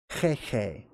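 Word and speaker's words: Heihei: Hey Hey, which, by the way, is actually pronounced Hey Hey, deep. It's a guttural.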